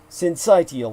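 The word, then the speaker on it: syncytial: called respiratory SN well s sensiti is what it's spelled s y ncy t i a l it's RSV respiratory sincitial virus and Barney Graham figured out how to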